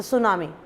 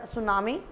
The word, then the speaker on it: tsunami: not tsunami so actually this word is a japanese word and according to english